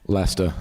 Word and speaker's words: Leicester: Leicester, yeah.